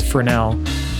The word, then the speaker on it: Fresnel: maybe a physicist or someone named fernell and it's spelt fresnel f-r-e-s-n-e-l definitely look it up